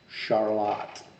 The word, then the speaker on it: Charlotte: ready for this this is actually how it's pronounced charlotte michigan in the midwest that's going down sunday